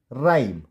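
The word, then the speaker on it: rhyme: एंड राइम, राइम। यहाँ पे एच हम प्रोनाउंस नहीं कर रहे, हम डायरेक्ट बोल रहे हैं RY, राइम, राइम। और ई आपको पता है जब भी वर्ड के लास्ट में होता है तो साइलेंट होता है, तो राइम।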